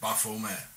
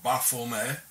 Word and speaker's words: Baphomet: Therefore the name should be pronounced without the T at the end, as the early Templars were French, and in French the T at the end is not pronounced, coming to the exact pronunciation in Demotic.